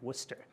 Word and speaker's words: Worcester: wife who's now in med school is in Worcester that's how he said it right Worcester by the way she yeah is your wife